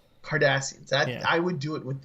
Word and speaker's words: Kardashians: Kardashians. Just lose the H. Kardashians.